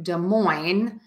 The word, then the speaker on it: Des Moines: um area but again to say Des Moines I would say da uh moin Des Moines and that's how you